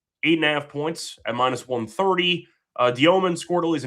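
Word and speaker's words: Demin: It's spelled Demon, but it's pronounced Dioman.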